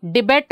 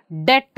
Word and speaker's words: debt: See here, debt. ಇದನ್ನು ನಾವು ಡಿಬೆಟ್ ಅಂತ ಓದಲ್ಲ, ಡೆಟ್ ಅಂತ ಹೇಳ್ತೀವಿ.